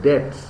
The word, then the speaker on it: debts: father, Byron also accumulated debts. Pronunciation? Debts. উচ্চারণ হলো debt, বিটাকে বাদ দেন তাহলে কি হবে? Debts.